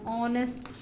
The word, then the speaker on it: honest: as the vowel sound an honest man same way this H is not pronounced an honorable job this